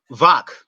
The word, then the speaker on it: Wach: I keep mispronouncing his name. Wach. Uh, Is it in Vok? spite of Vach, there you go.